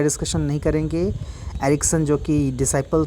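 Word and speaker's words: Jacques: Jack Laka, इसको जैकस मत पढ़िएगा, उसको लाकान मत पढ़िएगा, ठीक है। जैक पढ़ा जाता है इसको, जैक लाका, ठीक है।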